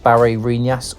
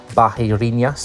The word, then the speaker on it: Barreirinhas: need to get to this town called Barinas or they would pronounce it in Brazil something like Bahinas.